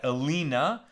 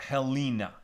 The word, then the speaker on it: Helene: in English h-e-l-e-n-e and Bill would say you pronounce that Alina or Helena Helena thank you also this wasn't